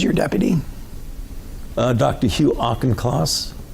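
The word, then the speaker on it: Auchincloss: division directors who's your deputy uh Dr Hugh auchenclass how do you say his last name class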